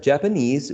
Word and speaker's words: Japanese: teacher japanese teacher okay so this stress shift occurs whenever for example in this word like japanese you have the final syllable stressed and then the following word contains also a stressed syllable you can you cannot find stressed and stressed syllable so that's why one uh in this case the first one the first word needs to shift the stress towards uh the initial syllable so japanese becomes japanese